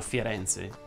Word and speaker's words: Firenze: Ah, ovviamente non sono a Firenze, ma Firenze va pronunciato con la E aperta e il raddoppiamento fonosintattico.